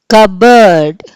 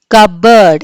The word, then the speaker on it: cupboard: కబర్డ్. Okay, కబర్డ్. ఏం వినిపించలేదు మీకు? P వినిపించలేదు. Okay, so P ఈజ్ the silent letter in the word కబర్డ్.